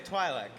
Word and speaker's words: Twi'lek: It's a Twi'lek, you say Twi'lek, I say Twi'lek.